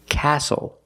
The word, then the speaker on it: castle: seat belt very good we also see the silent T when you have the spelling pattern stle e like these words whistle castle and hustle the t